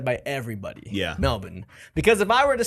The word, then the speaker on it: Melbourne: And they were adamant about telling everybody that it's not pronounced Melbourne, it's pronounced Melbourne. Melbourne. Oh, like there's no R. Yeah, there's no R in it.